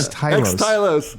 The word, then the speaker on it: Xtylos: What's the correct pronunciation? Xtylos.